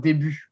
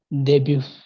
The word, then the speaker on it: début: So you don't do the. I mean, often it happens that when we pronounce it in English, the u, the u sound we pronounce u, and in English it often becomes u, like a fuller, larger u, and we just say debut.